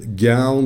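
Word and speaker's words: gown: گون در واقع همون گان پزشکی که شاید بعضیاتون شنیده باشید و حالا در دوران کرونا و اینا می‌گفتن که گیر نمیاد گان پزشکی در واقع تلفظش گون هست که به معنای روپوشه.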